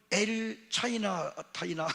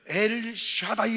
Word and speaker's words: 엘 샤다이: 엘 샤다이 하나님, 이건 엘 타이나가 아니고 엘 샤다이 하나님.